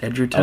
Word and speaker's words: Egerton: It's spelled like Egerton, but it's pronounced Edgerton. Oh, see, I didn't know that. Yeah. I always said Egerton, too.